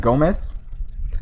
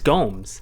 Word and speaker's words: Gomes: Isn't it Gomez? He's not Hispanic, dude. I thought he was Hispanic. If your fucking name is Gomez. It's Gomes. Gomes. Right? It is. It's Gomes, dude. Gomes. But it's spelled like Gomez. Yeah. With an S.